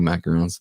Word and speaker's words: macaron: so there you go mackerels like the actual french like the little sandwich cookies say it right macaron know how many